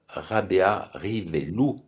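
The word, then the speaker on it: Rabearivelo: On aura donc une un hommage au poète Jean-Joseph Rabea Rivello qu'on prononcerait en malgache Rabéa Rivelou parce que le O se prononce ou en malgache qui donc un un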